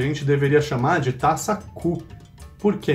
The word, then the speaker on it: coupe: de taça coupe, porque em francês coupe significa copa. E coupé significa cortado, ou ainda o nome de um carro típico dos anos 60, 70, 80. E nada tem a ver com taças e copos, o coupé. Então, o termo certo de se falar é taça coupe.